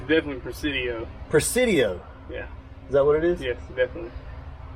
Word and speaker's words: Presidio: How do you pronounce that? It's definitely Presidio.